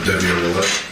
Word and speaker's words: Devyn Willette: Devyn Willette. Can you spell that for us, sir?